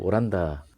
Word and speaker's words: 오란다: 오란다 를 왜 오란다 라고 부르나 요 ? 알고 보니 그 단어는 포르투갈어 "Holanda" 에서 유래 했더군 요 . 그들 은 Holland 의 'H' 발음 을 못 해 요 .